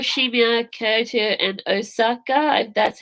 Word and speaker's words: Osaka: to take you home be okay too and Osaka that's how you say it oh and I